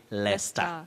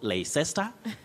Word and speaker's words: Leicester: and all that yeah you say leicester leicester city not le sister not leicester and all that leicester